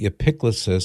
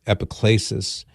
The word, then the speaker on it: epiclesis: And the liturgical action begins with what's called the epiclesis, sometimes is pronounced epiclesis as we anglicize it.